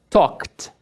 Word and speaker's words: talked: Talk. Ao som do K, as cordas vocais não vibram. Não vibrou. Talked. Talked.